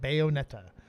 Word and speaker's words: Bayonetta: a character called and I hope I'm saying this about Bayonetta uh she was yeah good job good job old man yes you said it right Bayonetta okay all right she